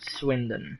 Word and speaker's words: Swindon: Swindon. It's spelled S-W-I-N.